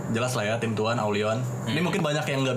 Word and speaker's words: AVLION: Ini jelas lah ya tim tuan Aulion. Ini mungkin banyak yang nggak bisa baca nih tulisannya Aulion nih, karena dia kan AVLION kan. Ini pasti banyak yang bacanya V nih. Aflion. Iya, misalnya Aulion ini.